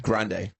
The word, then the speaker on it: Grande: Grande.